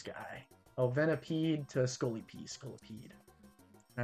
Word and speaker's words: Scolipede: Scolipede.